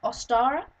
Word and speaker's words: Ostara: Halloween basic information it is the holiday is pronounced ostara it is celebrated in March around the 21st